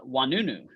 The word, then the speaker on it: Oinounou: today by our first guest uh uh wanunu did I did I pronounce it correctly you got it Rakesh yes